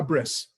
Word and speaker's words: bris: American Jews, typically Ashkenazi Jews will say a bris, right? It's just the Yiddish pronunciation of the word brit.